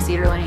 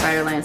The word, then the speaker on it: Cider Lane: Keep saying Cedar Lane even though it's Cider Lane, so I have to like stop and like make sure I say it right.